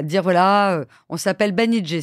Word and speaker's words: Banijay: voilà euh on s'appelle banij ça se prononce banij pas Banijay et on va devenir